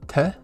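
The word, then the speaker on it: て: tsu here and then we have te which is like 10 it looks like a big t and like you're gonna spell out ten and then we have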